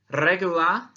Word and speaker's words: regular: Regular, regular, remember to roll your R, means so-so or I'm okay.